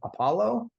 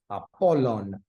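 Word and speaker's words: Ἀπόλλων: and italic pronunciation, but like Apollo, that's not how you say that in Greek. Apollon mm, or Plato, that's not how you say that in Greek.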